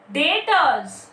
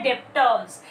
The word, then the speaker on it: debtors: Okay, apart from that, डेटर्स, DEBTORS, कोई pronounce करता है डेप्टर्स, इट इज नॉट डेप्टर्स, इट इज डेटर, B is silent.